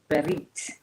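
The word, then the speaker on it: ברית: And so the Hebrew word for covenant is berit. I've seen it spelled like a few different ways when it's transliterated.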